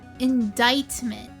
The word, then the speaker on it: indictment: Indictment. Oh, the C is silent.